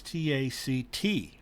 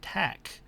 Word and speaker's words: tack: people misspell that as t-a-c-t or pronounce it that way it's not taking a different tact it's taking a different tack so what that means